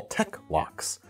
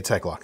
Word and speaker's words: Tek-Lok: One thing I'd love for you to do is a video on these things you call tech locks.